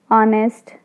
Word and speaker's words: honest: Honest, again H is silent.